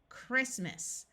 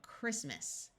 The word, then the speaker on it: Christmas: This OO will use the sound of oo, like in school, Christmas. I'd like to point out that this T is silent and the A takes on a muffled schwa sound of so Christmas.